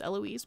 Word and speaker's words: Eloise: Kimberly not too nitpick but her name is pronounced Eloise my bad my bad I will focus on